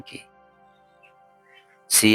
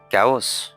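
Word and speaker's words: chaos: সংগীতের শ্রেণী বা ধরণ এই শব্দটা সঠিক উত্তর কি সি এস এ ও এস কাউস নো এটা সঠিক উচ্চারণ হচ্ছে কেস কেস অর্থ বিশৃঙ্খলা এই শব্দটার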